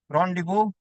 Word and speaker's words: rendezvous: Pronounce ఎలా చేస్తారు spelling ఇలా రాస్తారు కానీ ZBOUS రాస్తారు కానీ it's pronounced as rendezvous. So that this section of the motion is called rendezvous.